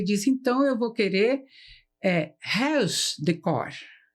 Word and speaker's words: Huis Decor: Então, ficou Ruiz Decor, não é assim? Isso é. Mas a pronúncia certa seria Huis Decor. Huis quer dizer casa, tá?